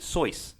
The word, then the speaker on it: Seuss: __ ] useless um he himself noted it rhymed with voice so sorry okay so